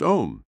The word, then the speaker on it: Om: gently humming the sacred Mantra Al pronounced om about 10 times breathe